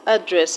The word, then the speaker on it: address: Now on how to stress understand, afternoon, and address, I already told you how to stress address. Address, the first syllable is a schwa sound, so you do not stress a schwa sound.